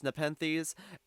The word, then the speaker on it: Nepenthes: Also, prior to recording this, I did look up how to pronounce Nepenthes, and I learned that it is a genus of carnivorous plants, which I assume this is the Nepenthes in question.